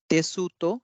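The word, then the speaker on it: テスト: इसी तरह से ये हो जाएगा, भले ही हम इसको तेसु तो लिख रहे हैं लेकिन इसे कहा जाएगा तेस्तो।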